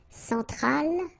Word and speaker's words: Centrale: Centrale, remember, E-N nasal, so it goes in your nose.